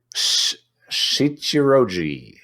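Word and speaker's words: Shichirōji: one is uh no no no it's uh shichiroji shichiroji chiroji yeah is an old friend yeah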